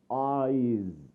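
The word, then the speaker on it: -ize: We pronounce or say this suffix as eyes.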